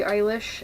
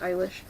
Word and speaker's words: Eilish: One of my favorite singers to listen to right now is Billie Eilish, and I'm pretty sure that's how you say her name. In German it would be pronounced Eilish.